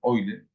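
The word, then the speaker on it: Euler: eler o eler digamos se escribe eer pero se pronunciar oiler bueno conos como e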